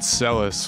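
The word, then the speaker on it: Celes: very important question uh in ff6 do you pronounce the names celis or seelys i figured cellus was yeah the correct way to say it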